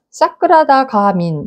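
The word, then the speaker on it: sakṛdāgāmin: 산스크리트어로는 사크라다 가민, 사크라다 가민, 뭐 이렇게 읽을 수 있어요. 발음은 제가 좀 사람마다 조금 다를 수 있지만 그렇게 읽습니다.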